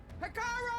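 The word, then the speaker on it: Regalla: have killed you have gotten that oh it's pronounced regalia has betrayed us the embassy is proof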